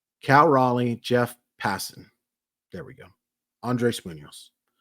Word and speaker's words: Passan: Cal Raleigh, Jeff Passan.